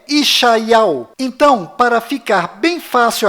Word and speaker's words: ישעיהו: Bom, agora ficou bem claro que a verdadeira pronúncia do nome de Isaías em hebraico legítimo lá em Israel é Ishaiau.